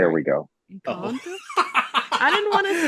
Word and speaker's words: Encanto: Encanto's one that I've been watching a lot, like repeatedly. Excuse me, what? Uh oh. Encanto? Uh oh. There Sorry. we go. Uh oh. Encanto?